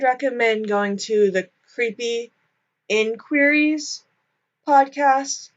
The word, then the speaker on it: InQueeries: So, if you want to hear more about Kenneth Zeller, I would recommend going to the Creepy InQueeries podcast. That's spelled like I-N and then queer-ease.